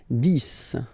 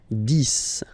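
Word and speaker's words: dix: 10. Okay, so remember, final X here is pronounced like S. 10.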